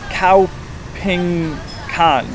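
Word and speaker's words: Khao Phing Kan: and we're actually gonna be heading out to cow ping con yes that's how it's pronounced which is also better known as Jim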